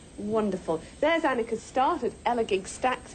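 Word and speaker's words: Elegug Stacks: There's Annika's start at Elagig Stacks. It's pronounced gig, I'm reliably told.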